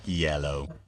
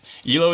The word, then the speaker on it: Elo: pull their weight is Elo pronounced EO or EO I think the latter I'm pretty sure it's pronounced ELO not yellow I've never heard someone call it yellow actually I think I've